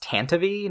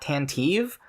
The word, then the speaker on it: Tantive: Also, as a nitpick, it's pronounced Tantive, not Tantive.